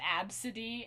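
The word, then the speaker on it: Abcde: this girl whose name was ABCD and it's pronounced AB City and this moms like sued him and like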